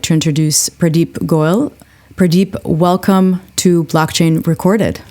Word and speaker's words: Goel: without further Ado I'd like to introduce pradeep goyal pradeep welcome to blockchain recorded it's a pleasure